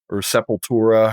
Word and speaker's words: Sepultura: A lot of people are comparing it to Sepultura's or Sepultura, however you want to pronounce it.